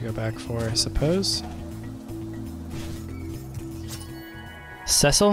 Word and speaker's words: Cecil: Cecil? I think that's how you say it. Cecil. Or as I probably used to say it, Cecile.